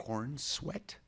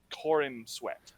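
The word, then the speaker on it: Corenswet: That's how people are saying it online, but it's spelled Corin Sweat.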